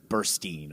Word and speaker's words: Burstyn: I think I confuse it because her last name is pronounced like Burstein or something.